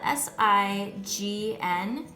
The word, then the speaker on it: sign: has a silent gn the gn is actually going to be at the end of the word so it's spelled s-i-g-n and this word is